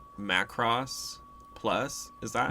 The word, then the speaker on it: Macross: This week we're going to talk about, I think I'm saying it right, Macross Plus. Is that how you Yeah. say it? Macross.